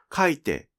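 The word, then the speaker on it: 書いて: その後、イオン便が起こり、書いてに変わったのです。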